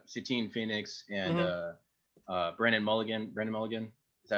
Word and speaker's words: Brennan Mulligan: Brennan Mulligan, is that how you say his name? Yeah. Brennan Lee Mulligan.